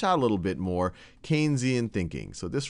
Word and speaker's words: Keynesian: more one of that's more keian and some of what we've talked about or Keynesian I should say I already did my first mispronunciation one that's a little